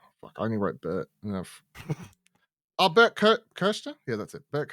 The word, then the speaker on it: Kreischer: Bert Kirshner? Yeah, that's it. Bert Kirshner.